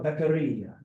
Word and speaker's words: Beccaria: Tesoro Beccaria.